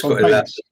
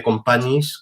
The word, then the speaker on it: Companys: Es Companys. la I pasa adelante, en vez de companyis, que se escribe companyis, pues companys.